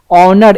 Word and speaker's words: honour: English अगर कहीं पढ़ा है, कहीं ग्रामर पढ़ा है, तो प्रोनाउंसिएशन के आधार पर, तो उसका प्रोनाउंसिएशन क्या हो रहा है उसके आधार पर ए एन भी लगता है। ऑनर, HONOUR, ऑनर, एन ऑनर होता है, ए ऑनर